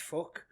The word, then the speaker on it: PHUQ: They did an album called PHUQ, which is pronounced fuck. But it's PHUQ, but you're supposed to pronounce it fuck.